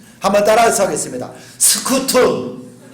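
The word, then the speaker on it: scutum: 스쿠툼. 한번 따라서 하겠습니다. 스쿠툼.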